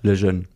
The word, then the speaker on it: Lejeune: Erich, wie spricht man das aus? Lejeune.